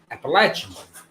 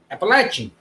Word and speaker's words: Appalachian: I have got to teach Danny the proper way to say Appalachian. It's not Appalachia. It's not Appalachian. It's Appalachian. Appalachian.